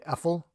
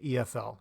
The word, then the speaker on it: EFL: abbreviation or EF l we don't say ethyl we say EF l so we're pronouncing each of the letters which is weird because